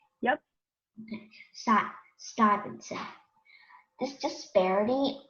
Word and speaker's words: Stuyvesant: It's pronounced Stuyvesant. Stuyvesant? Yep. Okay. Stuyvesant.